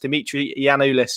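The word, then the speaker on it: Dimitris Giannoulis: a good player and he's pronounced dimitri yanulis just as paddy said good job as always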